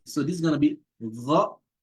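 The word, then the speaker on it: غ: And also gha. So not ga. Probably say again. It's not again, it's gha. Gha. So you can say it after me. So this is gonna be gha, right?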